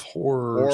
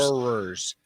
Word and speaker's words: horrors: House of Horrors. Horrors. Make sure you get that 2 syllables.